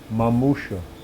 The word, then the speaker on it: mamushka: deathbed in his polish the word is three long pleading syllables mamushka the second syllable is stressed the third falls off into silence just yesterday he talked